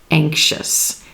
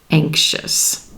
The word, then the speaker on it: anxious: this letter in here but here the X and that s sound that is part of the x is blending with that I sound and becoming the sh sh sh anxious anxious one thing I want